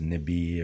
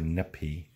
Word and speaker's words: nibi: Can be pronounced as Nibi or Nipi. The P and B is just a flow direction.